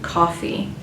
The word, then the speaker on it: Coffey: And the story takes place in the 1930s, where the main character, Paul Edgecombe, comes across John Coffey. Coffee like the drink, only not spelled the same.